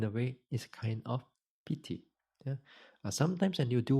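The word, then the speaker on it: pīti: Pali the word p-i-t-i actually you pronounce as p-e-e p e e p t not as a bit longer I longer long eye here yeah pity now this excitement this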